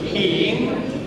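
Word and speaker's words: 阴: Come si pronuncia? Yin.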